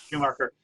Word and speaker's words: Schumacher: In that, is it pronounced Schumacher? How do you say Yeah, it? Schumacher, right? Schumacher.